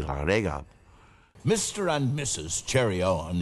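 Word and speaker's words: Llareggub: sounding name yes and it pronounced correctly in Welsh it would be laurega Mr and Mrs Cherry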